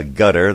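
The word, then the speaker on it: Qatar: got bahrain and uh gutter that's where you're really supposed to pronounce it and the city of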